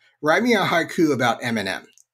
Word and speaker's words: Eminem: some of them uh it was not able to identify That Eminem was three syllables it treated it as one so the second line